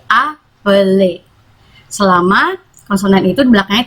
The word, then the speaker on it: appeler: Misalnya appeler bukan appelles, tapi appeler.